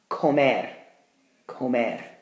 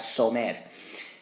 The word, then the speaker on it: comer: Comer, comer, it's a hard C sound. Otherwise, I'd have somer.